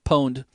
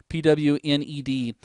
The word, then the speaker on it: pwned: I've gone through and I've pwned several machines I'm not mispronouncing that pwned pwn Eady pwned it comes from a there was a game that they released in somebody fat-fingered where it was supposed to say you got owned when you were killed